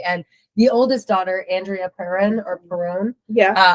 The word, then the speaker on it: Perron: And the oldest daughter, Andrea Perron, or Perron, Yeah. I don't know how to say the last name, so I'm going to say Perron because that's how they say it in the movies.